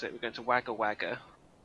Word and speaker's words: Wagga Wagga: it, we're going to Wagga Wagga. But there's Wagga, not... Wagga. Yeah, get it right, you jackass. Wagga Wagga.